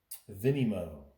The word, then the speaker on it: Vinymo: It's almost spelled like Venmo. Vinimo.